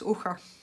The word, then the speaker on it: ochre: Anything that is CH has a ch sound and not a ch sound or a k sound. So yes, ochre, like loch. Almost the same word.